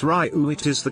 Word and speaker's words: Ryu: It's Ryu. It is the correct pronunciation for the Japanese meaning of dragon.